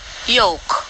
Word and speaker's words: yolk: of the egg and it will make sense for the l sounds to be heard just like it is in the color it's not it's rhyme with joke the same is true